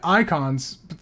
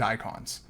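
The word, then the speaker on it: Eikon: in this game and icons not spelled like icons because you know it's Final Fantasy it's like spelled e-i-k-o-n um icons that are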